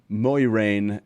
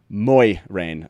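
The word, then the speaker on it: Moiraine: try to do it the o i or o y is much softer the idea is moy rain instead of muy rain so in other words it's a really soft sound there it's not as maybe heavy uh taylor can you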